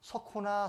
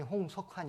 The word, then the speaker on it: 홍석환: 그래서 많이 안 좋았습니다 그래서 제 이름을 부르는데 어떻게 부르냐 소호나 소호나 그러는 거예요 제 이름이 홍석환 있니다 그 홍자가 다 못